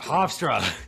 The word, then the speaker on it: Hofstra: Hofstra.